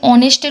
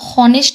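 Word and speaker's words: honest: ইজঅান অনেস্ট বয় এখানে অনেস্টের উচ্চারণটা হনেস্ট না হয়ে অনেস্ট হচ্ছে অর্থাৎ এই এখানে সাইলেন্ট থাকে মানে এইচ এর উচ্চারণটা আমরা করি না ও এর উচ্চারণটা করি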